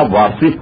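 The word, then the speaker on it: واثق: دیکھیے اس کا تلفظ ہوگا واصف کا واو الف سے اور قاف، یعنی تین نقطے والوں سے اور قاف، یہ واصف کا تلفظ ہوگا.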